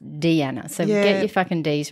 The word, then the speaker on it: Deanna: DAV Dany and Dean spelt like Diana but pronounced Deana so get your D's